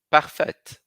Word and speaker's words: parfaite: Ao segundo, parfait para no AI. No feminino, parfaite. Falo T.